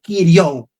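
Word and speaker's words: κυρίου: Ahora, la otra palabra que compone día del Señor en griego es la palabra ipió o también que se pronuncia como kirou. Kiriou que significa señor, pero señor no en el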